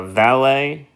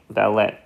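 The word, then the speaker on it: vallate: the sulcus terminals and these are going to be called the valet even though it's spelled valet papillae so so far we have the fungiform papillae and we have the valet vallette or valet papillae and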